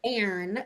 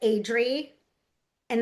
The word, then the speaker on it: Adrienne: maybe Um, Adrienne, like Adri, and then Anne is her name, not Adrian, like we're saying.